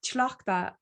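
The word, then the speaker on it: Tlachtga: I have to pronounce her name properly because it's very hard to get it. Tlachtka.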